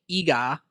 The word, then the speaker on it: Iga: Well, there's a Japanese city called Iga. I think I'm pronouncing it right.